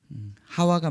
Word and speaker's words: 하와: 아니면 이브 가 맞을까요 히브리어 성경을 보면 하와가 맞이하 웃 으 하 와 같은 맞아 우리 우리나라의 성경의 훨씬 더 에 원래 발음의 가깝습니다 그 이제 아담과 하와를